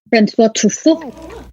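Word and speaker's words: François Truffaut: Can you give me the French pronunciation? Francois Truffaut.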